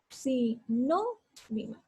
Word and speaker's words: sinónimo: Y digo, si, no, mimo. Separo en sílabas. Si, no, mimo. Entonces, ¿dónde elevo la voz? Si, no, mimo. Aquí elevo la voz, en la no.